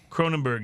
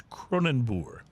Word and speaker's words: Kronenbourg: Kronenbourg is the incorrect pronunciation. It's a French beer, but it's Kronenbourg. Is I how it's say pronounced.